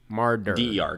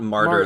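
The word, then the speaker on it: Marder: it's m-a-r-t-e-r uh d-e-r mardu martyr mardu but so but it's not it's not martyr like the religious like that's why i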